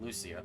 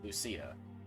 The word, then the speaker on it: Lucia: Not Lucia, Lucia. Your emphasis is on the wrong syllable.